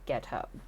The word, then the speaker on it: Guiteau: Enter, at this point, Charles Guiteau. Guiteau. It's pronounced Guiteau.